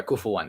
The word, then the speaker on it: كفوا: I mispronounced that a little bit. ولم يكن له كفوا أحد. There's a dhamma right there. You gotta pronounce it right. What do you call it? Now I pronounce it with a shadda by mistake.